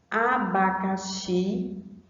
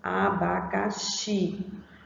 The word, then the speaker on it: abacaxi: Abacaxi, a gente observa que o xi, ó, ele também já é pronunciado com um som forte, ó, abacaxi, abaxi, certo?